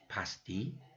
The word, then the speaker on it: pasti: the same for instance pasti which means definitely definitely pasti if you're from england you know that word um of course and um so it sounds almost the same right um but it does sound the same excuse me so i